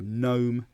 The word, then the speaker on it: gnome: is silent at the where the G is silent at the start of words, and you just have the N. So gnome, gnat, and also KN.